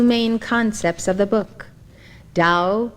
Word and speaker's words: Tao: concepts of the book dao meaning way it is spelled t a o der meaning virtue or